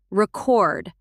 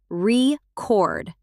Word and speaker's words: record: English does this a lot. Record, record as a noun, record as a verb.